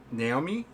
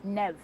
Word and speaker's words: Nev: Now, is it pronounced Naomi? Naomi? It's Nev, actually.